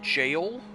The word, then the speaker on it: gaol: I think they said it's pronounced jail, like it's actually a jail, just pronounced differently.